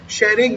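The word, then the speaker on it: Tshering: यहाँ के पीएम कौन है, शेरिंग लोते, कौन है, शेरिंग लोते, टी साइलेंट रहता है बच्चों, नाम क्या है, शेरिंग लोते।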